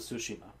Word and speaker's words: Tsushima: Anyway, but seriously, how do you pronounce it? Ghost of what? Ghost of Tsushima.